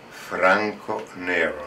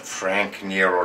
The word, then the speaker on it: Franco Nero: everybody my name is Franco Nero not Frank Nero like the American will pronounce I play a wonderful